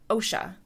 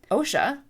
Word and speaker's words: Osha: OSHA like the Occupational Health and Safety Administration or Asha Awesha like you are in a Asha versus the other character who could also be pronounced Asha A ha or Asha. So in my head the way I pronounce these two characters when I'm reading the books is OSHA and Asha because that clearly separated them in my mind.